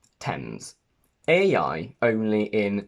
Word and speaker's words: Thames: pasts red meant delt the letter a never gives you the sound a except for these four words any many at which is a less common way of pronouncing eight the simple past of to eat and thames a i only in